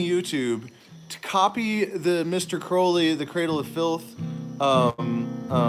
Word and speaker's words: Crowley: cool man not cool it's crowley it's literally crow like i can't believe you